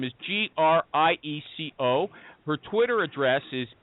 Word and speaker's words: Grieco: nail down the pronunciation of her last name, please. Thank you. You did, but that's okay. It's Grieco.